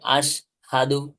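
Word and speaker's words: أشهد: না যাবে না যাবে না তাহলে কি হবে আশহাদু এটা সরাসরি বাংলাতে হ আছে না বাংলাতে জি হ এর মত উচ্চারণ হবে বাংলাতে কিসের মত উচ্চারণ হবে এর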